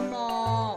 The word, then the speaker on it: หมี: อาวรณ์ าว า แต่ ว่า หนาว ค่ะ หรือ อย่าง ต่อ ไป นะ คะ คำ ว่า หมี อ่าน ว่า มี หมี คำ ว่า หนอน อ่าน